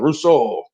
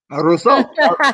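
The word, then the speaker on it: Rousseau: correct spelling uh sean it's r-o-u-s-s-e-a-u okay it's pronounced like we're just i must be maybe it's french you know that russo russo r-o-u-s-s-e-a-u right just when we get you know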